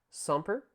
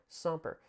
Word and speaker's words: semper: Semper, that's how you pronounce this word. S-E, that wasn't a very good S, so I'll give you a better one here. But S-E-M-P-R, semper, meaning always or continuing.